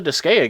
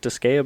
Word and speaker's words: Disgaea: Is it Disgaea? Because I call it Disgaea. I want to say it's Disgaea because Gaia is Gaia. Right. But then again, I just always pronounced it Disgaea, so I don't know.